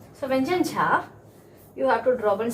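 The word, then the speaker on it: झ: stress to the vyanjan jha. This is a vyanjan ja. Casually we have to say, and this is a vyanjan jha. Some stress is coming. Stress is there whenever we pronounce the vyanjan jha.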